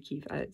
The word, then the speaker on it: Kyiv: And in Ukraine anyway, in Kyiv, if I'm pronouncing that correctly, because it's not Kiev anymore, it's actually Kyiv, so because they changed the name.